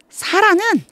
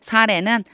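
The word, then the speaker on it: Sarai: Child는 아기가 없는 거예요 사라는 아기가 없었습니다이 사라라고 읽으면 안 되고 사례라고 해야죠 사례는 아기가 없었습니다 여기에 나는요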